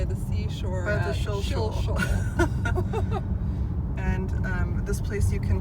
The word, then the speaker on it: Shilshole: We're here going by the Shilshole Bay Marina, not to be accidentally pronounced Shills Hole, which I have heard people who are not from this area say.